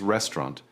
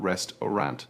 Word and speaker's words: restaurant: First is restaurant. It is not restaurant. It is 2 syllables spoken quickly. Restaurant.